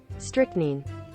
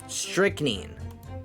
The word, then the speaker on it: strychnine: Pronunciation. Strychnine. Strychnine.